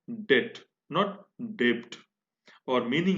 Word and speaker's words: debt: DEBT, लेकिन हम डेब्ट नहीं बोल रहे हैं इसको। इसका प्रोनाउंसिएशन डेब्ट नहीं है, इसका प्रोनाउंसिएशन क्या है? डेट।